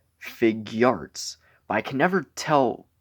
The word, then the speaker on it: Figuarts: much also I think I'm probably saying it wrong because I always thought it was figure Arts but I noticed recently that the package technically says fig Arts but I can never